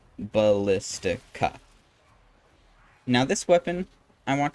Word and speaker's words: Ballistica: I pronounced it terribly as the Basilica, but it is actually Ballistica.